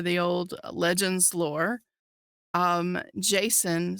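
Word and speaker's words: Jacen: hyping it up since day one we saw Jason sundula I was so happy with chopper I'm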